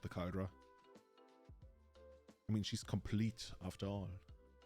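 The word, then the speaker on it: Compleat: It's an archaic spelling of complete, so we just pronounce it complete. Okay, so it's Caldra complete.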